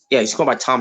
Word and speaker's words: Thom: Yeah, he's going by Tom now. But it's spelled in THOM.